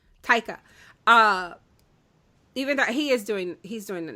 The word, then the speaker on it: Taika: Even though I think Taiki, is that how you say his name? Taika.